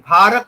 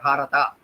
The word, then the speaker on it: Bharat: In Bharat also final A is not pronounced. Kannadiga will probably pronounce it Bharata. Even A is pronounced, but in Hindi it is not pronounced.